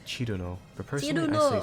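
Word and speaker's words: Cirno: People often say her name in different ways, the most common being she's the snow fairy, Cherry Moo. I love Cherry Moo. Cerno, Cyrno, and Chirno. Her name in Japanese is Chiruno, but personally I say Cerno or Cyrno.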